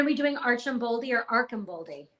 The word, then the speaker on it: Archambaldi: And are we doing Archambaldi or Archambaldi? Archambaldi is how it's pronounced on the audiobook.